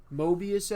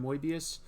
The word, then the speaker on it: Moebius: Uh the closest I've come is in my uh Moebius episode or as I pronounced it back then, Moibius.